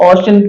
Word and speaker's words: ocean: उसी तरह से OCEAN है, OCEAN इसको पढ़ा जाएगा ओशन, पढ़ा जाएगा।